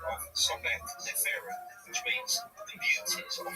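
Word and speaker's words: Sobekneferu: Yeah, the first female pharaoh, and it's about, now correct me if I'm pronouncing this wrong, Sobek Neferu?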